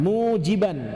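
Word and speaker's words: مُوجِبًا: Wa mujiban bikasril jim, bacanya bikasril jim, jimnya dikasrohkan, mujiban, jiban, ya.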